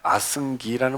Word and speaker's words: 아승기: 아승지라는 말은 원래 아승기라는 말이고 아상키아라고 해서 셀 수 없다는 뜻입니다.